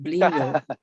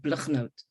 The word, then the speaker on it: Blignaut: Sonia thanks Joo I I much prefer that fancy French pronunciation of blo in in South Africa we we kind of just make everything sound really gutal so in Africans I'm called blote um but almost nobody can pronounce that um thank you much